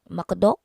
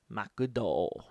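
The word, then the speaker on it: マクド: Yeah, Yeah, like McDonald's in Japanese, Makudo. Makudo.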